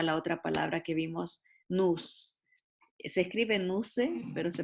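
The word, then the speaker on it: νοῦς: Y ahí nos lleva a la otra palabra que vimos, nous. Se escribe nuse, pero se pronuncia nous.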